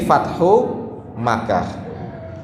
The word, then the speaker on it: Fathul Makkah: itu Fathul Makkah jadi Fathul Makkah kita biasanya banyak yang salah membacanya Fathul Makkah pakai alif lam Mekkah niku mboten ngagem alif lam Fathul Makkah fatahallahu Alaika